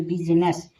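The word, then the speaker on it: business: Dare B यू एस आई एन E double S यानी बिजनेस। बिजनेस में आई क्या है? साइलेंट है।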